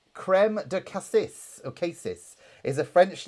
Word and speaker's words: cassis: Cassis is how it's pronounced, by the way, according to Chris.